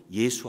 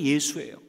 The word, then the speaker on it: 예수: 말이에요 예슈아 뭔지 아시죠 예슈아를 갖다가에 헬라 식으로 발음한 것이 바로 예수 아닙니까 여러분 우리가 보통 성경